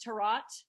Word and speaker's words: tarot: Also, it's pronounced tarot. Tarot. Tarot. Tarot. Is that French word?